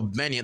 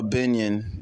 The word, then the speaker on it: Gbenyon: over here uh benan that's how you pronounce it benan yeah yeah it's uh benan the g is silent it's GB n y